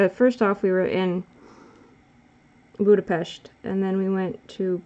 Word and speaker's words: Budapest: And I made sure to always pronounce it correctly. Budapest.